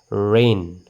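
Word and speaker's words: rain: নিজৰ নামেৰে সাউণ্ডটো হ'ব যেনেকৈ ৰেইন ৰ এ ন ৰেইন ৰেইন এটা আইৰ সাউণ্ডটো কিন্তু অহা নাই আইটো সাইলেন্ট হৈ আছে এই আইটো সাইলেন্ট হৈ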